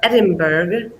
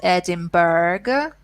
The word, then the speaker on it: Edinburgh: city which is spelled Edinburgh British people or especially Scottish people do not pronounce it that way we pronounce it Adam brah Edinburgh Edinburgh okay Scottish people say